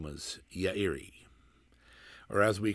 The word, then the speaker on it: Yairi: sadeo and hiroshi uh their last name was yairi or as we call it say in this in the west yerry which is an inter incorrect pronunciation but sadeo